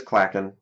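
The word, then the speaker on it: clachan: us the pronunciation too so it's uh CLA gun clacken so it is clackin rustic clackin c-l-a-c-h-a-n and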